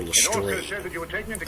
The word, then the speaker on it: Lestrade: name the right way most people would call him inspector lestrade but his name is actually inspector lester that you were taken